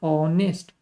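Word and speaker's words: honest: नहीं लगाते एन ना लगाते हैं क्योंकि हम लोग बोलते हैं ऑनेस्ट तो आ की मात्रा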